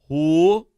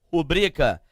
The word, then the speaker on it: rubrica: Então, eu tenho uma palavra paroxítona, da mesma maneira que a palavra rúbrica. Rúbrica não, porque a palavra não possui acento. Então, a pronúncia correta é rubrica.